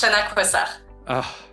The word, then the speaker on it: Coissard: And it's Shaquh.